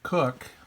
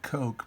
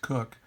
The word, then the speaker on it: Coke: England uh sir Edward cook I know it looks like Coke but it's pronounced cook suppos the com law